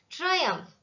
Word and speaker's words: Triumph: Triumph, that's how we should pronounce this word. The letters P and H together are read as F, as in PHONE, phone, PHOTO, photo, ALPHA, alpha.